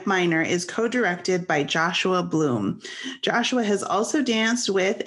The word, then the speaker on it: Bluhm: is already difficult enough people say and then they say blum and i'm like wow